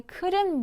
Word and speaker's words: couldn't: 자, 여러분 조심할 거 couldn't eat 하지 마시고 트 발음 거의 들리지 않게 발음해 주세요. 자, 마찬가지 I couldn't move.